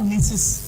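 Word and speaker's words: gneiss: Granite क्या था आपका, फर्स्ट क्या है granite, इग्नियस rock, when it went under the influence of pressure क्या बनेगा नीसिस, जी साइलेंट, क्लियर शेल क्या बनेगा चिस्ट।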